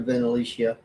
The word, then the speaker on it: Venalicia: I think a lot of people haven't heard of Venalicia, or if you prefer, Venalicia. My daughter's best friend was Alicia, and it's spelled the same way, only with a VEN in front. So for me, Venalicia.